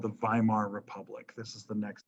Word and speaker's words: Weimar: Weimar Republic. You spell it with a W, but you say V.